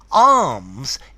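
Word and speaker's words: alms: really good at it arms is a word meaning charity notice it's pronounced the same as your arm yeah arms so um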